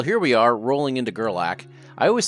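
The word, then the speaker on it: Gerlach: Well, here we are rolling into Gerlac. I always say the name wrong. I see the ch at the end and assume there's a T in the name and make it Gorlatch.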